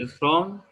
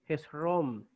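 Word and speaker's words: Ἑσρώμ: Pero aquí, fíjense que tiene un espíritu rudo que le da el sonido de J. Entonces, Hezrom. Hezrom. Hezrom, porque el espíritu rudo le da el sonido de J a la vocal o dictongo que lo lleve.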